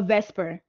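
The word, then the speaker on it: VSEPR: after that we talk about the supper or Vesper okay is is written for separate but we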